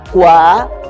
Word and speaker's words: cuaderno: Pero en cuaderno hay que ponerle mente que cuál es cuaderno. Pueden oír la que es der.